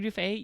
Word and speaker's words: Duff: Like, yes, it's mid, but like, Hilary Dufay, you came for my ass, and I was just not here for it. Yes, it's spelled like Hilary Duff too.